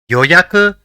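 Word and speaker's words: 予約: see the first word the first character in the word is Yo the second is ya and the third is Ku so it will be pronounced as yoyaku which means reservation let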